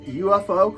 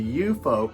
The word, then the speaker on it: UFO: uh regulars at the I don't know if it's pronounced UFO club or the eupo club I've heard it pronounced both ways but yeah they were